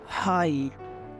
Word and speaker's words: high: For example HIGH, हाई, हाई, यहाँ पे हम GH का साउंड हटा देते हैं, सिर्फ बोलेंगे HIGH को, हाई।